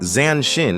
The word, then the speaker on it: zanshin: Zanshin, pronounced zahn-shin, is a concept from Japanese martial arts. The word breaks down as zahn, meaning remaining, and shin, meaning mind or heart.